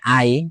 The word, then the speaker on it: 愛: এই কারণটাই শুধুমাত্র একটা কারণ যার জন্য গারা তার মাথায় সেই ট্যাটুটা করে নিয়েছিল যেটার উচ্চারণ হয় আই এবং ওটার অর্থ হলো ভালোবাসা।